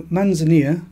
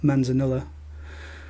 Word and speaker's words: Manzanilla: doesn't matter too much so manzania not Manzanilla not the pronunciation matters too much is a Spanish fortified